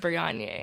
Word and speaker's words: Brionya: So I think she just added the A on there, but it's supposed to be pronounced Brionya.